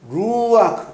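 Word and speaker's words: רוח: 이거는 루아크, R 발음.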